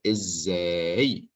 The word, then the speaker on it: ازاي: Notice this ending, ek, and notice the word ازاي. Okay, here we learned two things. ازاي means how. And I have Z twice because I pronounce it twice.